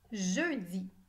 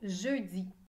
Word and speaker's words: jeudi: Il y a 5 lettres dans le mot jeudi. Jeudi. Le son E s'écrit E-U. Je. Di.